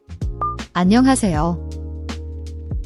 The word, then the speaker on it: 안녕하세요: The H in is often very soft, almost silent, in natural speech. Don't make a hard H sound like in hat, it's more like a gentle breath.